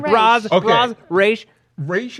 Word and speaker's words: Ra's: Raish is apparently the appropriate title. way to pronounce it. The way all of us have been pronouncing it for a while is Roz.